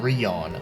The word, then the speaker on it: Rion: So the character you play as is named Rion, which ironically enough also rhymes with Leon.